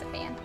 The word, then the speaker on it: Saiyan: It's pronounced Saiyan.